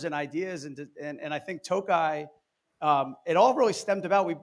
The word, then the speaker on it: Tokaj: And by the way, I got to ask you, I think I did mispronounce it for the first 6 months. Until someone told me, they're like, it's Tokaj.